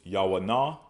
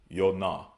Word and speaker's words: Jonah: Next we have Jonah, which is Yawanah. Yawanah, but they pronounce it as Yonah, okay?